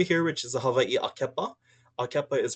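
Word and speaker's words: ʻAkepa: Then we move down into this one over here, which is the Hawaii Akepa. Akepa is pronounced A-ke-pa.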